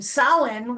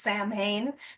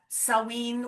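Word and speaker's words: Samhain: So, um sin, which is spelled S A M H A I N. So, it looks like it's pronounced Sam Hayne, but it's Celtic and it's pronounced sin.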